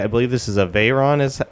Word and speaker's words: Veyron: I believe this is a Veyron is how it's pronounced.